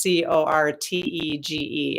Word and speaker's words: cortege: So it's for you guys, if you're wondering, it's Cortege. I have a hard time pronouncing words sometimes.